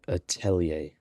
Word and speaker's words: Atelier: A girl all alone experimenting with So magic that's how you pronounce it, Atelier.